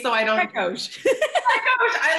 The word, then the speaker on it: Pechous: Pechous.